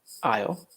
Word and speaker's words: aisle: It's in the next aisle to the left. Thanks for your help. So let's talk about this word. Aisle. The pronunciation is aisle. Like this. Like the contraction for I will.